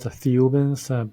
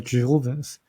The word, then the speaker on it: Thiaoouban: We pronounce it THIAOOUBANs, but in French, if you really pronounce it, it's actually the Jehovahans. Very similar to Jehovah or Jehovahans, but there's really a